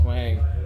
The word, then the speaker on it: Hoang: And again and and again it takes someone like Wang, that's how you pronounce his name. Thank God. That's how that say someone like Wang to like know bring